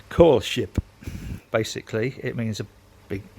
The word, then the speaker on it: Koelschip: called a cool ship now you can say cool ship c double o l s h i p if you want or you can spell it properly which is k o e l s c h i p core ship basically it means a